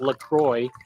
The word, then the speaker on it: LaCroix: i'm drinking uh i i call it lacroix but i guess it's pronounced lacroix because it's from like wisconsin and it's a carbonated